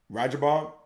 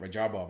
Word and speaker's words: Radjabov: to you guys is roger bob my rajabov gotta get that right rajabov i like to get the pronunciation right at 18 he uh